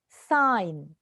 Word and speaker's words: sign: Sign. G silent.